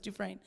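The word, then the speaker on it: Dufresne: is Nancy dues duin it's spelled du fresy but it's du frin but she talked about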